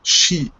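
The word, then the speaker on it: 四: this uh uh uh the sign for the number four is pronounced she in uh Chinese and the number for death is also pronounced she.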